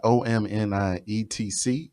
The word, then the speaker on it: OMNIETC: Spotify, OMNIETC, to be pronounced Omni, etc.